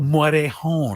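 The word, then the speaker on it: Morejón: I think I do a nice job pronouncing that. You do. Morejon.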